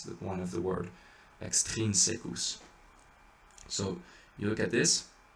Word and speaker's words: extrinsecus: You don't want to do et extrinsecus. You don't want to do et extrinsecus, because then you're putting the accent on the secus, but it's extrinsecus.